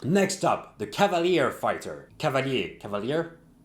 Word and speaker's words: Cavalier: Cavalier? In French it's Cavalier, so Cavalier, let's go.